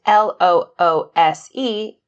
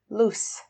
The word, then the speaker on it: loose: And L-O-O-S-E is pronounced loose with an S sound, loose.